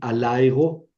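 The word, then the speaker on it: ἀλλ' ἐγώ: Yo tendría que decir alego, alego. Y la ley de la flojera otra vez. Alegó. Alegó. Suprimo esta primera alfa para evitar el choque de dos vocales largas.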